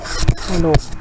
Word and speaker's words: Coulomb: Ini bacanya hukum Coulomb.